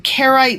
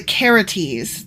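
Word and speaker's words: Carites: um first thing is I was saying carite mercenaries but actually I'm pronouncing that wrong it's the caretes not the carrots ah okay yeah and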